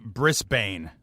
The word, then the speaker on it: Brisbane: do have to make a quick correction it's pronounced Brisbane so BR bris brisban you're going to want